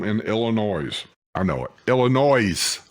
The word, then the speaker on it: Illinois: Illinois, with an S. Illinois. People in Illinois hate that. They tell you that the S is silent.